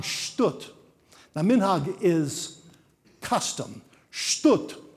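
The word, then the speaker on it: שטות: Shtut, or as the Ashkenazi pronounces a little bit nicer, shtus.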